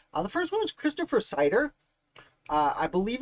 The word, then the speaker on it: Seider: know i don't know i think it's pronounced cider either way christopher cider is arguably